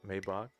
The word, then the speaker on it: Maybach: going better back fck oh are you just trying to get me to say it right Maybach clearly it's working